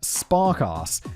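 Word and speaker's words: Sparkasse: Yet, there he was featured on a major podcast sponsored by Sparkass, a major German bank.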